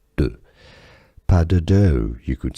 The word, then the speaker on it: pas de deux: d e d e u x is just pronounced like d e, deu. Pas de deux, you could say it in English. Pas de deux. Pas de deux.